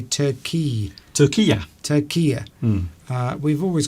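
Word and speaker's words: Türkiye: Turkiya rather than Turkey? Yeah, a lot of people are saying that because that's the actual pronunciation of the country by people who live in Turkiya.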